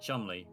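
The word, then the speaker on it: Cholmondeley: But then you get chumli which is an old English word that is spelled completely different from his pronunciation.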